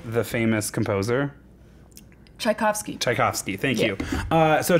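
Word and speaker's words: Tchaikovsky: not is he not um anyways because you pronounce this chiosi right the famous composer chaikovsky chaikovsky thank you uh so Chaos's gay past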